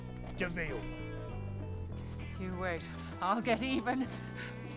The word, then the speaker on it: de Vil: He's spelled devil, but it's pronounced Deville.